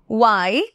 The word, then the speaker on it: why: Already pronunciation শিখিয়ে দিয়েছি, আরেকবার বলে দিচ্ছি why, how, which, whose। ওকে, এই যে মাঝখানে দুটো why and which এ কিন্তু h এর উচ্চারণ হচ্ছে না, ঠিক আছে?